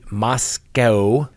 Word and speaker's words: Moscow: Now, in the latest statement on November 13th, the Moscow, not the Moscow Police Department, as people have been trying to tell me. So apparently it's Moscow, not Moscow. We pronounce it like we see it.